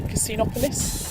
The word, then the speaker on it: Casinopolis: go into casino police so you pronounce it casino casinopolis something like that it's basically a huge